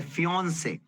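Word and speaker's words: fiancé: होता है मादा मधुमक्खी फादर पिताजी मदर माताजी फियोंन से अब देखिए यहां पर ये वर्ड है फियोंन से अब ये इंटरेस्टिंग वर्ड है।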